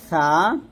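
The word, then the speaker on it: ث: সেটা হচ্ছে সাটা আমরা জিহ্বার আগা উপরে দাঁতের আগার সঙ্গে লাগাবো, পাতলা করে উচ্চারণ করবো। আর সিনটা জিহ্বাটা নিচে দাঁতের মাঝে লাগবে, নিচে দাঁতের মাঝখানে লাগবে।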